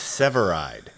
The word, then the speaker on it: Severeid: How do you say your last name? Ooh, thank you for asking. It's Severide.